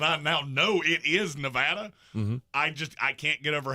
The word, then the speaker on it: Nevada: Yeah, in spite of the fact that I now know it is Nevada, I can't get over how grinding that sounds.